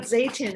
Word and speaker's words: Zeytin: So that's I don't want to ask you about Zaytoven and how you found it. Am I pronouncing it correctly?